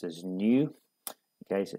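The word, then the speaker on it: ν: um for which we use this symbol here pronounced as new okay so it's like a V pronoun as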